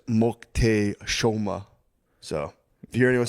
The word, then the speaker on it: Moctezuma: Apparently, the way you say Montezuma is Moctezuma.